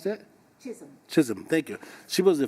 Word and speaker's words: Chisholm: from a politic you know i remember shirley chilslen she just she was the first how do you pronounce that chisholm thank you she was the first uh african-american